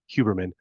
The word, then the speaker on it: Huberman: huberman huberman let me I learned how to pronounce that correctly huberman after watching this podcast because he has a